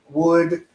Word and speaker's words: would: different all right and the big pronunciation tip that I want to focus on with these three words is that the L that you see in those words is silent so the pronunciation is not schooled cooled or ruled okay that's a very